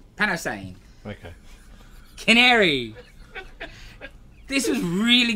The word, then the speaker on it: Panosian: Panosian? Panosian.